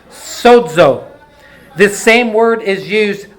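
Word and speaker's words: σώζω: for whole it is the word sozo s-o-z-o it's pronounced sodzo this same word is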